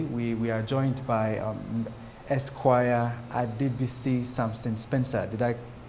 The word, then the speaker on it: Adebisi Samson Spencer: Therefore, today we are joined by Esquire Adebisi Samson Spencer. Did I pronounce those correctly?